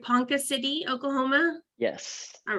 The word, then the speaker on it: Ponca City: he lives in am I saying it right Ponca City Oklahoma yes all right and he received a